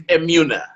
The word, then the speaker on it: Emunah: Man, it's Emunah. Is it Emunah? It's Emunah. Emunah.